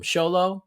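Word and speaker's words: Xolo: about blue beetle um from show low it does say that's how you say it uh which is good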